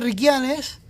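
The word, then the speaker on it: Riquianez: la montaña de Riquianes, aunque se escribe con Z, Riquianes, pero se termina con Z, yo no lo pronunciamos con... Sí, es que estoy alejado. Estamos observando la montaña de Riquianes, que se pronuncia con... Nosotros lo pronunciamos con la S final, pero aunque es una Z, ¿no?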